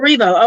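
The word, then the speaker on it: Erivo: here we go grammy awards 20 21 cynthia ervio and dozia cat what do you judging these look so let's start with cynthia er ervio i don't know if i'm pronouncing it oh revo okay thank you so much and she's wearing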